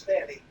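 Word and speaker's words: Fani: you know about fonny Willis is anybody fonnie pronounced f f n i that's Fanny she like said when she became the whatever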